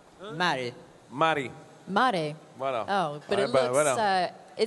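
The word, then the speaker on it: märg: What's the pronunciation? Sorry, Mari. Mari. Mare.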